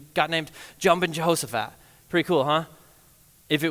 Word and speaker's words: Jehoshaphat: your hammer with a thumb he said jumpin Jehosaphat which is lame so just to be clear